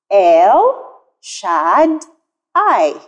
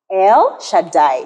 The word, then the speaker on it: El Shaddai: is el shaddai el shaddai this name is pronounced el shadd i el shaddai you can say it with me boys and